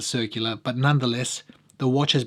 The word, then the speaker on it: Circula: had experience with his brand circular some pronounce it circula I don't know I'm an Aussie so I pronounce it circular but nonetheless the watch